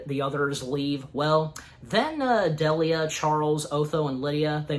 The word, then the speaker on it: Delia: And even at one point, Bernard then says to Delana that, Delia, sorry, you know, still gotta remember how to pronounce her name right.